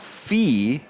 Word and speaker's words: Fe: writes in to clarify Fay means fairy in Swedish sure does and it's pronounced fee but fire Fay is okay too okay